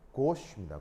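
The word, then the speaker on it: gauche: 발음이 뭐라고요? 고시입니다. 고시. 단어 좀 희한하죠? 단어가 좀 희한하게 생겼죠? 왜냐하면 저 단어는 불어에서 온 단어예요.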